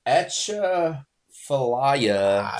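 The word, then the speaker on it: Atchafalaya: were amazing that place there yes so it's ATA Faya Seafood Company uh Dustin Heron if you watch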